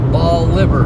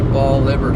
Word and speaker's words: Bolivar: Next time you visit, please say ball liver. Basically, ball liver. Sorry if it sounded mean. It's just we don't pronounce it like people in Tennessee. Ball liver. Okay. Boliver.